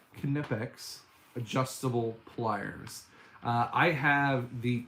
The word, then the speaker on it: Knipex: What do I think of the Knipex, or sorry, gotta say it right, Knipex adjustable pliers?